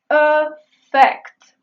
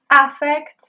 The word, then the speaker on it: affect: El primero es un verbo y se pronuncia con el sonido schwa al principio: "affact". No es "ah-fect". No es "eh-fect". Es "affect".